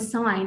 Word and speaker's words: sign: differently, for example, also the word sign has the G letter in it. Okay, when we are reading it, it has the G letter in it, but we have to pronounce it correctly when we are speaking.